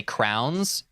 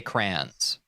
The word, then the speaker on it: crayons: Some people say crowns. Some people say crayons. I say crayons.